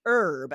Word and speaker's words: herb: All right, so let's get to the words that do have that silent H. So, as Maura wrote in, she was asking about the word herb.